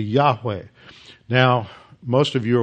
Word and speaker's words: Yahweh: the name of God the second seems to be pronounced uh like West so it'd be Yahweh now most of you